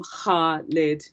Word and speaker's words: Khalid: arabic name as well so khalid is khalid as weird as that sounds um word sounds it's almost like you're bringing up phlegm but not sorry to be disgusting but it's um heart lid khalid um so you might